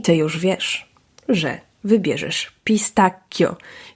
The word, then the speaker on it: pistacchio: już wiesz że wybierzesz pistacchio Ja wiem że tam czasem kusi nas żeby wymówić coo i żeby było to miękkie ale ty masz już